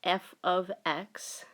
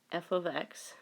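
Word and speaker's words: f(x): function notation remember F you pronounce this F ofx F ofx and that f is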